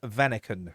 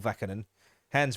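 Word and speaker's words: Hans Vanaken: read to retype it it's hans vaniken not vacant hands vanican we've been linked with this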